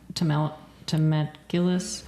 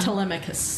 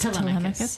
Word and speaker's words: Telemachus: But I think they were just showing Temeculus. How did he say his name? The son. Telemachus. Telemachus.